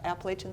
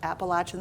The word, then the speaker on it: Appalachian: which will also have Appalachian Spring on it. Not Appalachian Spring. I have to say that 10 times. Come from my East Coast background, I always say it wrong.